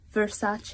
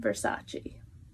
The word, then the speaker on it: Versace: and last but not least even I was pronouncing this one wrong for a while it's Versace a not Versace here's the super easy way to get a